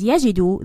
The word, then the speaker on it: يجدوا: And as I said before, this alif is not pronounced.